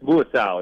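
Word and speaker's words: Muasau: Yep, Darius Moisseau is how you pronounce okay.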